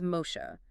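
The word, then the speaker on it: משה: In Hebrew, the name Moses is Mosha, spelled with three consonants, mem, shin, he.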